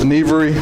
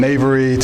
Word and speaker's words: Nevri: I am Nevri, that's pronounced Nevri, like your knee. I've heard everything from Navery to Neverly. I'm not sure where the L comes from.